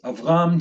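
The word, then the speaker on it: אברם: of the patriarch is avram two syllables preceded by a short vowel rendering the schwa to be silent now I want to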